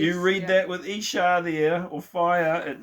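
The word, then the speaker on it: אשה: That's how you say it, Isha. Yeah. Not Aisha. No, Isha, because there's a dot underneath.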